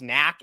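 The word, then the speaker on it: Naak: since 2018 I believe they're pronounced Knack n-a-a-k um anyways they're producing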